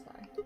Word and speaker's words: Phi: It's Phi. That's how you say it, the Greek letter, anyway.